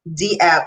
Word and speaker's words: dApp: have in mind um but this dabs d app some people you might hear them say it like that um emphasis on the d because that is decentralized